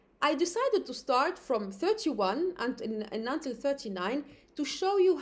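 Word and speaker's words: trois: Then 3, OI in French is always wa, and we have a silent S.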